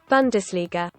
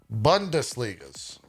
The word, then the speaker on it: Bundesliga: you supposed to say this how do you pronounce bundesliga bundesligas bundesliga bundesliga bundesliga bun das liga let's slow